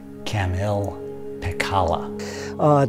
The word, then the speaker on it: Kamil Pekala: The correct pronunciation of his name is Kamil Pekala.